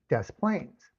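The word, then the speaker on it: Des Plaines: But Des Plains is pronounced Des Plains, which is makes me curious because okay, it says I was checking about John John Wayne Gayy.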